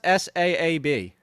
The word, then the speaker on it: Saab: Pronounce S-A-A-B.